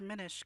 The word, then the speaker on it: Minish: It's Minish because it's mini.